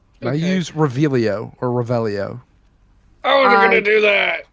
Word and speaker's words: Revelio: Revelio.